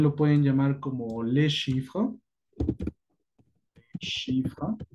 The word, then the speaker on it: chiffre: Le numéro también lo pueden llamar como le chiffre. Chiffre. La misma situación, es final, ne se prononce pas.